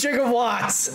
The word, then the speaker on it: gigawatts: to working out factory it is chica watts it is jig of watts i thought that's i thought jingle watch was spelled with the j that's why i always